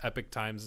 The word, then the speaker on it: Epoch Times: I see Epoch News in there as well, but it's like, or Epoch Times, Epic Times is how they pronounce it.